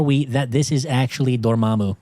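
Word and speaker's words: Dormammu: Dormumu, the cosmic conqueror. What the hell does that even mean? And by the way, it's pronounced Dormamu. It's Dormamu.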